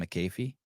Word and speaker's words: McAfee: a regular on this show this uh Pat McAfee show and uh he's talking about our say it again Pat McAfee Pat McAfee Pat Mackey what I call him McAfee okay McAfee yeah yeah if I knew how